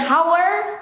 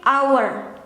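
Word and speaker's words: hour: kata Bahasa Inggris yang ada hurufnya tapi nggak disebutin silent letter Jadi bukan hower tapi our yeah every our setiap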